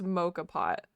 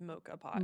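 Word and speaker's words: moka pot: Also, I looked up the pronunciation. You're right. It is mocha pot. It's mocha pot.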